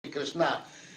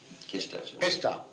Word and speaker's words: Krishna: Generally, they talk, instead of pronouncing very nicely Krishna, somebody named Krishna. Kesta. Where does it say that? In India, everywhere. Kesta.